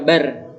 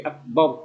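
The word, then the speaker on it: أكبر: Ya bab lah, itu karena ra sukunnya itu harus dibaca tafkhim, dibaca tebal karena sebelumnya ada huruf berharokat fathah. Tidak boleh dibaca bar, tapi akbar.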